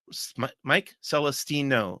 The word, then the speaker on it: Mike Celestino: Mike Celestino is the way you say my name.